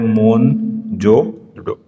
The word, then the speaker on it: मोहनजोदड़ो: और मोहनजोदड़ो का जो सही उच्चारण है वो है मोहनजोदड़ो।